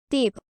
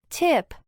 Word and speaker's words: tip: fuerte en inglés, pero la diferencia radica en que la T fuerte se debe pronunciar de forma aspirada. Es decir, expulsando un mayor nivel de aire y generando una ligera explosión al momento de hacerlo.